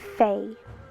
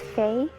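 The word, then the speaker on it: 肥: It's pronounced in Cantonese, Fei. Fei. In Mandarin, it's pronounced Fei. It means fat.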